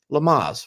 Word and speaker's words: Lamaze: Yes, and someone is so interested in seeing Ringo teach Lamaze classes. That's breathing. Am I saying it right? Lamaze. Lamaze. Lamag? Maz. M-A-Z-E. Lamaze.